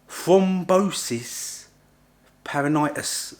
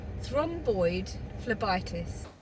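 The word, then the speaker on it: thrombophlebitis: Superficial thrombosis peritonitis, something like that. Right, I'll add this in here of how it's actually pronounced because I've not got the best pronunciation skills. Superficial thromboid phlebitis.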